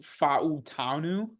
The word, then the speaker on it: Fautanu: I've heard that it's technically pronounced Fautanu.